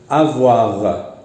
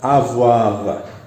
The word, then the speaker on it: avoir: En francés es avoir, avoir. La letra R en francés se pronuncia R, R, R, R. Entonces decimos R, avoir, avoir.